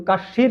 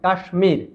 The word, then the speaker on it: কাশ্মীর: আরো একটি আছে ভারতের একটি অঙ্গরাজ্য কাশ্মীর এটার উচ্চারণ কিন্তু কাশ্মীর নয় কাশ্মীর আরেকটি আছে আয়ুষমান যার অনেক আয়ু যার অনেক